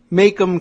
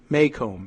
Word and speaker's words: Maycomb: Consider Macomb County. Maycomb, M-A-Y-C-O-M-B. You tell me about pronunciation.